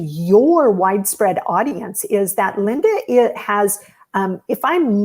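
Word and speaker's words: Lynda: to get hold of linda her name is spelled l-y-n-d-a linda sunshine west yes so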